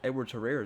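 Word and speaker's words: Edwards-Helaire: I'm pretty sure it's Edwards Herrera is how you say his name.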